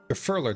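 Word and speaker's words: Gurfurlur: climb gurer is waiting gurler not gurer gurler so I guess Yaki have the emphasis on the middle syllable of three look at that mountain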